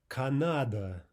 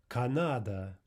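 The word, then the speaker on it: Канада: Okay, a three-syllable word. Canada, Canada. And you see how this works out. First syllable directly before the stressed syllable, ah. stressed syllable, of course, ah. Third and final unstressed syllable, Canada, Canada.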